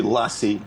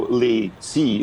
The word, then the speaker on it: LaCie: It's interesting, the pronunciation, because funny enough, here in France, we say lassie, like the dog. And Okay. And I think in America, they sort of go Lacey, as if it was two different words.